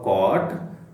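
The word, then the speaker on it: caught: ಟಿ ಅಂತ ಇತ್ತಲ್ವಾ ಹಾಗೆಯೇ ಇಲ್ಲಿ ಕಾಟ್ ನ ಉಚ್ಚಾರ ಸಿ ಓ ಟಿ ಈ ಎ ಯು ಜಿ ಎಚ್ ಅನ್ನ ಬಿಟ್ಬಿಟ್ಟು ಸಿ ಓ ಟಿ ಅಂತ ಹೇಳಿ ಉಚ್ಚಾರ ಮಾಡಿ ಕಾಟ್ ಅಂತ ಹೇಳಿ ಸರಿನಾ ಹೌ ಡಿಡ್ ಹಿ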